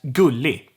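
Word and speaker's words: gullig: what i'm talking about the g is silent basically every time so we have gu league which means cute goo league but i'm gonna say it as ghouli and that goes for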